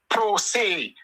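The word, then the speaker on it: pro se: law that you you call P R O S E. It is pronounced um prosay.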